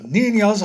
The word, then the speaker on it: ninja: It's pronounced ninja. I think you'll find that in their culture, the letter J is used for the sound we would normally transcribe with the letter H in English. I see.